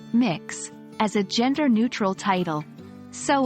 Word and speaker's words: Mx: miss you can use MX pronounced as mix as a gender-neutral title